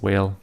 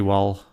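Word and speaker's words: Wael: I always think it's whale, but it's actually wall. Or well. Or wow. There's a lot of different ways to pronounce it.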